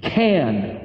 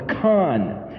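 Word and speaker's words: כן: How do you say it? Can or kan.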